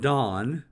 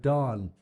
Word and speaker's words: Dan: the area of dawn I'm told that's pronounced Dawn we always say Dan because Dan's a word that we